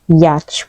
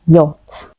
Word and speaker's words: yacht: tricky one it's not yach but yacht the CH is silent yacht the president spend